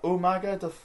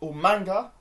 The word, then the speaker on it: Umaga: to the next match so we got yeah Umaga or Umaga or in the words of Willian William Regal umanga even it's funny like Ral kind even pronounced